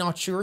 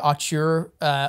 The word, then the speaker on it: auteur: I just realized I've been reading the word auteur online all this time, and I've never really said it out loud, and I think it's actually pronounced auteur. Auteur. That doesn't sound right to me.